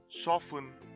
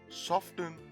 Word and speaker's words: soften: the t that is the t is not silent in this case hence they pronounce these words as often soften and hasten this next word